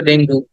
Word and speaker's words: dengue: বলি এটা বাংলায় শব্দটা ডেঙ্গু কিন্তু ইংরেজিতে বললে বলতে হবে ডেঙ্গি ডেঙ্গি ডেঙ্গি হ্যাঁ ডেঙ্গু